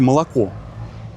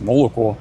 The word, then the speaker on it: молоко: Почему вы пишете молоко, а произносите молоко?